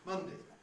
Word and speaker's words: Monday: Well, one thing that is not at all obvious from the spelling is that the first two rhyme. We say Sunday, Monday. We've got the same vowel sound in each of those, even though the spelling is different.